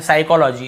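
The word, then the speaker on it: psychology: आपको पता ही होगा प स्टार्टिंग में प लिखा हुआ है लेकिन हम प को पढ़ते नहीं है साइकोलॉजी इसे हम क्या पढ़ते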